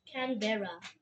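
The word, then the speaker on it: Canberra: The capital of Australia is you might not believe this but it's Canbera.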